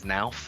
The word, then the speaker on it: Knauf: A lot of people mispronounce our company and say it's Knauf or Knauf. It's actually a hard K.